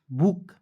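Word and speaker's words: book: B double O के बुक।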